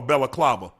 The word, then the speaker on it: balaclava: It's actually called a balaclava. That is the correct pronunciation of the garment that I had on.